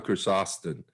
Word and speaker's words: Chrysostom: Yeah, John Chrysostom.